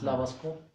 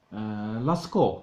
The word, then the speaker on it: Lascaux: It's Lavascourt? Lascaux. Lascaux it is. Think about the Lascaux case. And the last thing I want to add, take a gander at the pictures of Lascaux.